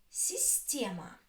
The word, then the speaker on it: система: Система. Система. Система. Which one is stressed? Система. Система. The stress is on я.